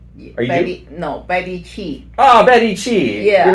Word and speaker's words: Qi: with my friend Betty Ju. Are you? No, Betty Chi. Oh, Betty Chi. Yeah. You're not Betty Ju? No, oh, I thought you were Betty QI, that's pronounced Chi.